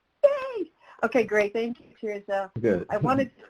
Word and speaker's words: Tirzah: may i i'm not sure if i'm gonna pronounce your name i'm gonna try is it cheers uh hey okay great thank you cheers good i wanted to say your name and